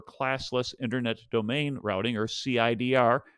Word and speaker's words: CIDR: internet domain routing or cidr pronounced as cider kind of reminds me